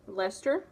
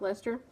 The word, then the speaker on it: Leicester: Blue-faced Leicester, which is not spelled like Leicester. but that's how they pronounce it.